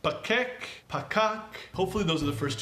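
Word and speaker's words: פקק: But the word is pronounced pakak, or pakakim, pakak. It's not pakak, kak. The P is soft. The K is soft.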